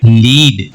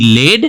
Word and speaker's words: lead: तो यहाँ पे क्या दिखाई दिया, LEAD लेड और LEAD लीड, प्रोनाउंसिएशन बदल गया लेकिन स्पेलिंग सेम है। LEAD लेड और LEAD लीड, दोनों ही केस में स्पेलिंग सेम है और प्रोनाउंसिएशन बदल गया।